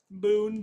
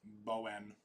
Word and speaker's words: Boone: Leon Draisaitl with Lucas Raymond and Boone Jenner. He actually told me how to say this one. I always said Bowen or Bo1. Bo1 Jenner, I called him. I'm kidding. I'm kidding. It's Boone.